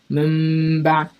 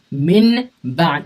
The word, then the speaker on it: min ba: Okay, and you're not gonna say min ba. You're gonna say mim ba. You're not gonna pronounce the nun.